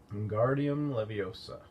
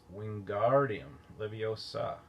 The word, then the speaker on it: Wingardium Leviosa: Wingardium Leviosa, he shouted, waving his long arms like a windmill. You're saying it wrong, Harry heard Hermione snap. It's Wingardium Leviosa, making the gar nice and long.